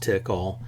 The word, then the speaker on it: Tcl: part of a language called TCL which is often pronounced tickle so you have something